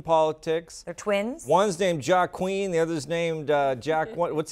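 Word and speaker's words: Joaquín: One's named Joaquin. The other's named Jack. What's the other name? They're both Julian. Julian, right? So you don't pronounce the J in either case.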